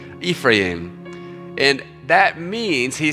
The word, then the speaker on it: Ephraim: And you can pronounce that different ways, but I looked it up. That's the best I've got this morning. Ephraim.